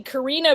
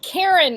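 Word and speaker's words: Karena: you pronounce it but by what it looks like it'd be Karina Virginia but it's Karen like Karina k-a-r-e-n-a Virginia like the state or the woman who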